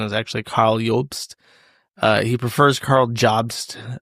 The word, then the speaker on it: Karl Jobst: Uh, by reading to you excerpts from a book by Carl Jobs, as I've discovered, he prefers to be called, even though his name is German and the pronunciation is actually Carl Yulpst.